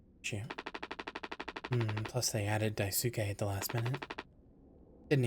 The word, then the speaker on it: Daisuke: Swansea is teaching Daisuke the basic. Or Daisuke, sorry. I don't know why I'm saying it wrong. I know how to say it.